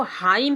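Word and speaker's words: hymn: उसके बाद एच वाई एम एन। हम इसको हाईम पढ़ेंगे। हाईम एन का उच्चारण नहीं करेंगे।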